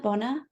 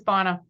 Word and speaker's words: Bonna: Did I say the name correctly? Bona? It's Bonna.